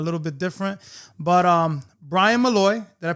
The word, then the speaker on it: Bryan Molloy: But Bryan Molloy, did I pronounce it right?